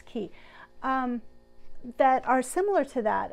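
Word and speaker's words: Caye: But I also have a Love Notions pattern, the Key Pants. Key, I think it said Key. It's C-A-Y-E, and I'm always afraid I'm pronouncing it wrong, but I'm pretty sure it's Key, that are similar to that.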